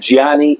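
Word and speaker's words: Gianni: me your name oh yes my name is Giani say how do you say that g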